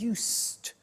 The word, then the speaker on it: used: it's written u s II D but the pronunciation is used and we'll see that on the screen later